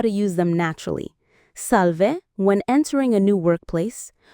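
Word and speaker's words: salve: First, salv, pronounced salv.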